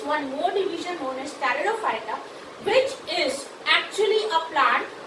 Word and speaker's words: Pteridophyta: The next group is Pteridophyta. Third subkingdom is Pteridophyta. Over here, P is silent.